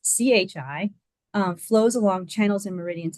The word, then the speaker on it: qi: So TCM believes that the body's vital energy, called qi, or pronounced chi, flows along channels and meridians in the body.